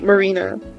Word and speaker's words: Mari: yeah I mean when when I see m a r i I immediately think oh it's pronounced uh it's pronounced Mari uh she she's about